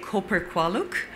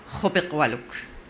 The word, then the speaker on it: Koper-Kolak: Really, how I pronounce my name it may be difficult for most of you, so we say Koper-Kolak, at home, it's Koper-Kolak, based on our mother tongue, Inuktitut, in Canada.